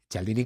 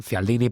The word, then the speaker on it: Cialdini: murió este año, Cialdini, Cialdini con la pronunciación italiana, Cialdini para el resto del mundo.